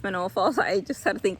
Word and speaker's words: Manoa: Um it's Manoa Falls. I just had to think about that. I keep on saying it wrong. Um Manoa Falls.